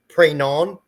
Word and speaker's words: Pregnon: just like you and it sounds like it's French and it's supposed to be like prayon PR yeah I believe but